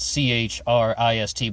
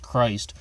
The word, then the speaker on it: Christ: Chris Kuehl and the death of Lisa Buchanan and the first thing to note is his name is spelled CH RI st but it's not pronounced Christ during the whole program